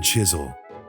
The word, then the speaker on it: Chiswell: consequences young John Chisel his last name pronounced with a silent W was born around 1710